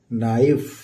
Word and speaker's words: knife: तो के साइलेंट होता है, ये है नाइफ।